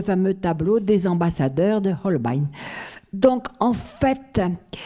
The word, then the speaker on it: Holbein: qui s'appelle Un message caché selon, alors, la prononciation Holbein ou Holbein ? Holbein, voilà.